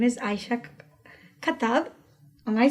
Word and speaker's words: Khatib: Her name is Aisha Khatib. Am I saying it right? Khatib. Khatib.